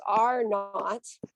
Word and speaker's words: R naught: Okay, so we pronounce this R naught.